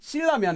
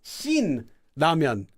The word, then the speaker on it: Shin Ramyeon: So to distinguish from that, people will sometimes just pronounce it as Shin because it's supposed to be Shin, and then say Ramyeon. So it's not just Shilramyeon, it's Shin Ramyeon.